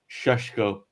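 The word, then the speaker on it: Šeško: as a new one, Benjamin, and I know how to pronounce this now, Shashesko. So, if you just imagine, you look at Benjamin Cesco, and then you imagine that you're Sean Connory. That's how you pronounce his name.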